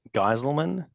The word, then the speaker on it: Geiselman: And my name is Geiselman, that's how you pronounce that.